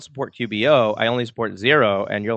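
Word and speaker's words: Xero: which is quickbooks online I only support a zero and that's spelled X ero so people who are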